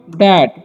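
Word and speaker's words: that: और इसे पढ़ते हैं हम लोग दैट, यहाँ पर TH का उच्चारण द होता है। ठीक है, ध्यान रखिएगा, थैट नहीं पढ़ना है।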